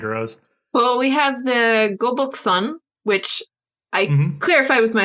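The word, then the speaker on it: 거북선: bonuses in humankind rose well we have the goboxon which i clarified with my husband on how to pronounce that before the street before our podcast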